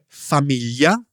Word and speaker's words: famiglia: Okay, so then there's the GLI, which I think is one of the hardest sounds for English speakers. Yes, Tanya, it's pronounced yi. You hear it in words such as famiglia or tagliatelle.